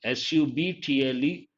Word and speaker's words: subtle: subtle, but B is silent, subtle.